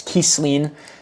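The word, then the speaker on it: Kisline: And and apparently this elf man's name is Kesleen. Um, that is spelled for the people in chat.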